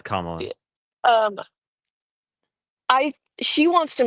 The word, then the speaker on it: Kamala: Uh, well Kamala I think that is that how you say her name? I don't want to miss Yeah, it's Kamla.